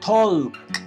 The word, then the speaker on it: talk: En inglés, la L en estas palabras es silenciosa, no se dice talk o walk, sino que tenemos que comernos la L.